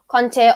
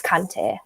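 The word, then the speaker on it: Kanté: a conte because that's the french pronunciation but then you just get mixed up with antonio conte and i just get confused so it's kante in my accent tonight guys right um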